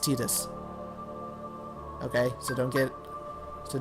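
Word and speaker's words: Tidus: 10 the main character actually and yes it's pronounced Titus okay so don't get so don't get mad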